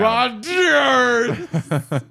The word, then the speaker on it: Rodgers: Twitter at Steve X Rodgers. Rodgers with a D. I got a TV pilot The called D is silent. Yeah, and the D is not silent. Very loud. Super silent. Very proud. Rodgers.